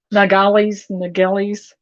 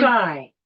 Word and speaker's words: nilgai: Nagalis.